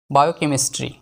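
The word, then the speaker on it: biochemistry: 8 নম্বর শব্দ বায়োকেমিস্ট্রি। শব্দটির বাংলা অর্থ রসায়নবিদ্যা। শব্দটিকে আমরা 4টি সিলেবালে ভাঙব। BIO বায়ো, CHE কে বায়ো কে, MIS miss, বায়োকেমিস, TRY tree, বায়োকেমিস্ট্রি, অর্থ রসায়নবিদ্যা।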